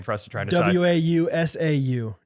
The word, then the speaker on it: Wausau: us to try to w-a-u-s-a-u w-a-u-s-a-u is wow how let me see it i can't i think it's wausau hey yo what's up